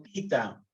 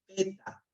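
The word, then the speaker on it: theta: Se pronuncia tita, no teta. Tita. Algunos dicen teta, no. Teta es lo que nosotros tomábamos cuando estábamos recién nacidos. Ahora no, esto se llama tita.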